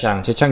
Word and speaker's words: Zhejiang: Kalau pronunciation-nya tuh di China Zhejiang University.